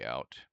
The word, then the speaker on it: cout: So, line 5, cout, pronounced cout, is an object used together with the insertion operator, which is this one right here, to output / print text.